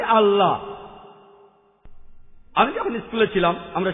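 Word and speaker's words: Allah: এলা বা এলা এ আমরা মুসলমানরা যখন ইংরেজিতে লিখি আল্লাহ আমরা লিখি এ ডবল এল এ এইচ কিন্তু রেফারেন্স লিখেছেন এল এ এইচ তারা বলে এলা আমরা বলি আল্লাহ আমি যখন স্কুলে ছিলাম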